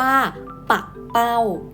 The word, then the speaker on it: ปักเป้า: ค่ะ แบบ ที่ 2 จะ อ่าน ได้ ว่า ปักเป้า เด็ก ๆ มา พร้อม กับ คุณ ครู ด้วย